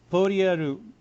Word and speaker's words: Poyal: Alright, so Polyarul, or well, yeah, it's pronounced as Polyarul, but based on the spelling, it's Polyal. So I'm gonna guess Japan's gonna pronounce as Poryarul.